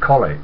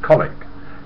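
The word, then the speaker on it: Colwick: times I for got to tell you it's colic it's spelled cwick c o l w i c k but it's pronounced colleag she says yeah know I'd like to tell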